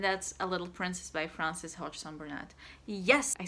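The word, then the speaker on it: Frances Hodgson Burnett: loving it and that's a little princess by francis hodgson burnett yes i said it right the first time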